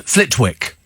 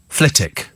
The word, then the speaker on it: Flitwick: not be actually uh one here uh Steve Flitwick it's not it's actually pronounced ftic well that's rid why don't they spell it